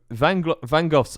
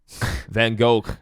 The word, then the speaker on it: Van Gogh: So Van Gogh's Olive Trees.